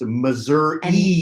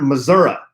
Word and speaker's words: Missouri: podcast again she says it is definitely pronounced Missouri yeah she's reiterating not Missouri also a few other